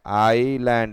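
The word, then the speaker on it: island: देखा हमने देखा आइलैंड आइलैंड यहां पे 100 नहीं बोलते हैं इस को आई और एस को आई बोलते हैं सर नहीं बोला जाता है जैसे कोई जमीन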